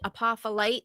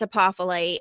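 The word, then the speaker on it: apophyllite: Apolite. The f it sound is actually a ph. Um, but apolite.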